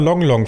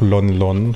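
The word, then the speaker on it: Lon Lon: aufmachen kann ja ich habe immer long long Farm gesagt aber jetzt wo ich weiß dass das von Malon Talon abgeleitet wurde muss ich wohl akzeptieren dass es doch lonlon Farm ausgesprochen wird was ich trotzdem sehr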